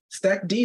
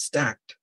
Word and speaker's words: Stackd: it better yeah so how do I call it stack D sounds cooler it's stacked so oh wow I